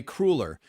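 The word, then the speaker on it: cruller: I'm going to say I know some people from Missouri who pronounce it that way, and they're in uniform agreement that it's crueler.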